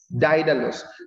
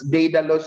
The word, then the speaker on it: Daedalus: this skilled worker the name of whom is didelos don't be surprised if you pronounce if some may pronounce it as data loss it's fine i just might pronounce i just